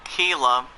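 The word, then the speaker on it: Kela: Going on to the Pirates bullpen for the 4-11 team, Kewan Keela. That's pronounced as K-E-L-A.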